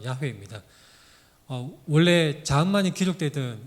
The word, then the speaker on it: 야훼: 여기서 여호와라는 것은 야훼입니다. 정확한 발음은 야훼입니다.